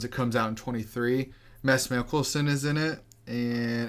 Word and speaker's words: Mads: It's spelled Mads, but I had my Swedish friend. Oh, okay. Yeah, I had my Swedish friend learn me well, my Danish friend learned me some Danish.